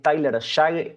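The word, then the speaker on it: Tyler Shough: Yo nunca sé cómo se dice este este creo que la pronunción correcta es Tyler Shag y cómo no va a estar contento.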